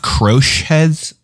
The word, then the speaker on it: crochet: i like crotchets yeah crotchet pronounced it's pronounced crochets oh sorry yeah that's a silent t my bed my baby